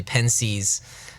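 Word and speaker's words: Pensées: exactly okay and in ponse or as the Anglo pronunciation some people just say pen sees there's a section there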